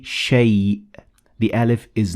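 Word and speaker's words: شيء: Now, as you can see, the alif in shay, it is written, but it is not pronounced. So we say shay.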